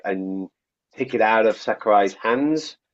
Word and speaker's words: Sakurai: It's Sakurai. Hideo. No. Smash. Oh no! I'm sorry. I think I've got retardation in my mind. Sakurai.